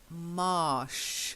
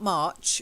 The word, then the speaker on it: marsh: very good and then marsh not March March is with the CH marsh that's it's good and